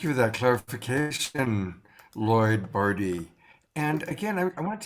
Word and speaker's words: Barde: like it might be Bard. Now that I live in Ashland, the land of Shakespeare, it definitely looks like Bard, but it's actually appropriately rhymes with party, because my last name is Barde.